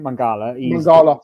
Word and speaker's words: Mangala: But the how do you pronounce his name? Mangala.